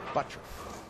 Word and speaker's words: Butturff: two four seven and it is buttra spelled t-u-r-f-f pronounced butcher it's easy for you